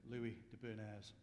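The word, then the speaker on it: Louis de Bernières: Captain Corelli's mandolin, and according to Alexa, I pronounce it Louis de Bernays.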